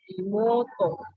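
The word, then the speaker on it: imōto: Kalau bahasa Jepang itu bedanya paling kayak panjang pendeknya kayak ototo. To-nya panjang imoto. Mo-nya panjang mou kan, tapi bacanya panjang.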